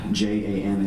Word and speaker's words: Jan: My name is Jan, although it's spelled J-A-N, it's pronounced Jan.